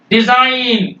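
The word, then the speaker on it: design: बढ़ता वो क्या है जी साइलेंट बिफोर एन कभी भी यान के पहले अगर जी आ जाएगा उसको आप साइलेंट रखेंगे एग्जांपल देखिए फॉरेन ये देखिए जी के पह एन के पहले है साइन जी नहीं बोलेंगे डिजाइन जी नहीं बोलेंगे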